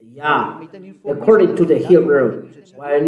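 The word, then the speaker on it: יה: How to pronounce it's Yah, according to the Hebrew. When you see this word, it is read Yah in Hebrew.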